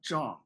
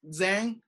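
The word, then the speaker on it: Zhang: of like Ray and the last name pronounce actually kind of like John okay now if some of you pronounce this as Zang uh I wouldn't mind okay it's not that uh different and a lot of people I I got people pronounce this like then all the time so uh either is fine but the actual pronunciation is actually J okay in in Chinese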